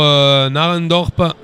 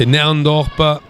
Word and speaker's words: Narendorp: Et cette relance pour l'Ajax Amsterdam avec, attention, une balle transmise un peu mollement pour Narendorp. On prononce Nerendorp pour cette formation de l'Ajax Amsterdam.